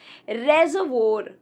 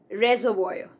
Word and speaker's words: reservoir: It's not reservoir. It's not reservoir, but reservoir. Reservoir.